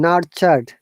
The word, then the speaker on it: nurture: Okay, remember that TU sound very often in British English we sound like cha. Similarly, what is today? Today is Tuesday, but in British English we sometimes pronounce it Tuesday, like cha sound. Natural. Okay, so in natural, Nurture. look, TU is ta, cha, not ta.